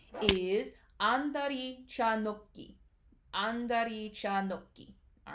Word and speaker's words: andari cha nokki: All right, there isn't quite a T in that no sound. It's actually an H. However, because the next syllable starts with a G, you stop the syllable short, and instead of saying no, right, with that no sound at the end, you actually add a little bit of a stop, right? So it's no, right? Andari cha nokki.